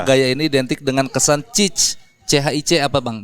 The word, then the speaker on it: chic: Karena gaya ini identik dengan kesan chic. CHIC apa Bang bacanya?